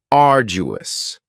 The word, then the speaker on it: arduous: cous next is arduous arduous has three syllables and the stress is on the first syllable arduous now you don't hear that D sound that much it's not very strong it almost sounds a little like a j arduous something that is